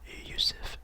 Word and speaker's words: Jusuf: Yusuf, kind of pronounced like Jusuf, because it's Jusef, but it's Yusuf Nurkic.